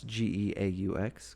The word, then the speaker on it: Geaux: It says "Go Nuts," Geaux, go in true Louisiana style.